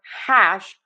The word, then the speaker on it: hash: So for hash wide open a and then end with that shh.